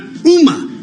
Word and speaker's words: Ooma: I've got UMA. Yeah, there you go. UMA provides internet-based telephone service for homes and businesses and operates a residential security service. UMA was founded in 2004 and began selling its phone equipment in 2007.